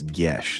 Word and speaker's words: Gesh: So that's Gesh. That word is Gesh. It's in there now. Gesh rhymes with mesh.